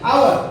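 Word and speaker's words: hour: अब यहाँ पर हम लोग यच को क्या करते हैं, यच क्या यहाँ पर साइलेंटली नहीं पढ़ेंगे, आओ क्या करेंगे, आवर मतलब घंटा, गलत मत लीजिएगा, ठीक है।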